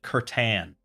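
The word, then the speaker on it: C'tan: Or maybe do, like, the Catan? Catan? I don't even know how they pronounce it. I will have to... Oh, they pronounce it Curtan.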